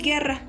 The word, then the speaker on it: guerra: Pero la U no se pronuncia, como por ejemplo guiño, guiso y guerra. Se dice que la U siempre va a ser como muda porque a la hora de pronunciar no se escucha.